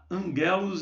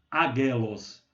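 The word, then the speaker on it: ἄγγελος: Porque um gama antes de outro gama, né, o primeiro gama se pronuncia como ni. Então, angelos, um gama antes de outro gama, antes de um kappa, de um ki, então ele se pronuncia como angelos.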